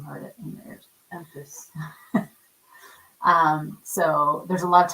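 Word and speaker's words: Empis: to specific fairy tales when he gets to Empus. Is that how you say it? Yeah. You know how to say it because you heard it in your ears. Empus.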